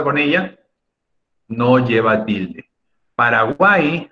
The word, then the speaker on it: Paraguay: ella no lleva tilde paraguay aunque te sorprenda mi estimado alumno es aguda porque la sílaba más fuertes guay pero no tiene que